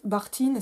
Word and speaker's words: Bakhtine: rappelle que pour Mireille Bartine, si on prononce à la russe, je crois, Johan va me corriger, ou Bakhtine, si on prononce à la française, traduit par Kristeva, importé